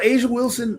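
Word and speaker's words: A'ja Wilson: Like um Asia Wilson, is that how you say her name? Yeah. So Asia Wilson, I mean even when she's asked about, you know, particular things.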